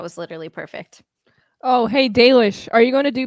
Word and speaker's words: Dalish: Is it Dalish, not Dalish? It's Dalish.